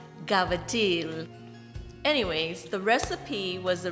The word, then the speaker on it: cavatelli: sausage ricotta and pomodoro it's spelled cavatelli but it's pronounced gavitil anyways the recipe was